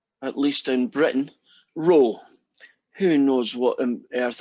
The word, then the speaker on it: rho: It's actually a Greek letter, that fella, but pronounced, at least in Britain, rho.